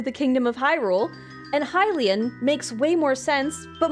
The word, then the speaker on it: Hylian: of Hyrule but for some reason I always pronounced it as Helian as people who belong to the kingdom of Hyrule and Hilen makes way more sense, but my brain didn't make that connection.